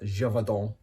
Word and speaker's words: Gévaudan: his hunt for the Beast of Gévaudan, I think it's pronounced. Uh that's how it's pronounced in the audiobook, anyway.